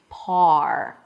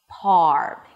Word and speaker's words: par: First of all, start by saying the word par. Par. Here the R is at the end. And it's a little easier for non-native speaker to hit the right position. You want to pronounce the O's and father and then bring the back of the tongue until the sides of the tongue touch the insides of the upper teeth.